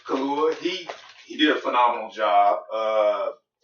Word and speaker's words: Kaluuya: Daniel Kaluuya, I think that's how you pronounce his name. Kaluuya.